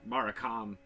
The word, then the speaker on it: Maracame: Well, first of all, we have to really fix how we're pronouncing it, because it is, according to the box. If I'm, it's Maracame. So. But if you're looking at it, you're probably gonna call it Maracame or Maracame. But isn't there an accent on the E?